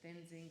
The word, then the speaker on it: Tenzin: But in Tibetan you say Tenzin, but you spell it Stenzin.